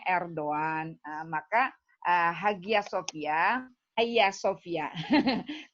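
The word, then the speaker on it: Erdoğan: Kayak kita Erdogan kan tulisannya, kita bacanya Erdogan.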